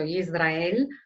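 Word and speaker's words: ישראל: È interessante, notare che il nome stesso Israele, pronunciato Yisrael in ebraico, può essere inteso nel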